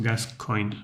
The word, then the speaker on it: Gascoigne: Pronounced Gascoigne.